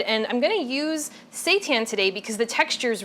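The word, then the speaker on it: seitan: be made out of Satan now Satan let me just explain what that is first of all it's spelled s i t an I know it sounds like something else but it's actually wheat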